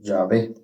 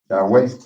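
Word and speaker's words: Yahweh: Yahwe es que lo escribe, mire, se escribe con W, pero se pronuncia como B.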